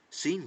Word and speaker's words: scene: In Shakespeare's day, I read in the footnotes, scene had been pronounced like Seine, as in the river running right through the center of the play.